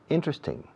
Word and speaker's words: interesting: Teóricamente, esta palabra tiene 4 sílabas. Interesting. Interesting. 1, 2, 3, 4. Interesting. Pero los nativos solemos decir, no todos, pero la gran mayoría decimos interesting. Interesting. Acentuando la primera letra.